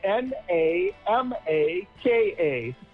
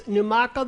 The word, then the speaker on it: Namaka: And so the Namaka is spelled N A M A K A. Check it out. It's Numaka the brand.